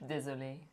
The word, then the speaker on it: Désolé: Désolé.